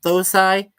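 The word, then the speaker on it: thosai: the H is silent, so the way it's pronounced is instead of, well, okay. Some people have said it as Tosai. The way I remember it, it was pronounced as Tosai, with the H being silent.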